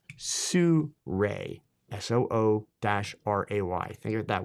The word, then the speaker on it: Sirui: As I mentioned, it's the Sirui AM326M carbon fiber monopod. So yes, just so we can clear this up right now, Sirui is pronounced Sirui, S-O-O-R-A-Y. Think of it that way, Sirui, okay?